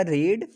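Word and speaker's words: read: तो ध्यान देना, अगर रीड लिखेंगे तो सेकंड फॉर्म में स्पेलिंग तो वही रहेगी, लेकिन इसको बोला क्या जाएगा, रीड, और यहाँ बोला जाएगा रेड, यहाँ बोला जाएगा रेड।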